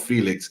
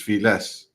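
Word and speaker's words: Félix: he's going around saying pronounce my name it's not Felix it's feeless what is this guy talking about but I give him a seven out of 10.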